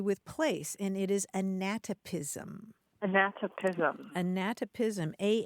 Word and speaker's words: anatopism: having to do with place and it is anatopism anatopism anatopism a n a t o p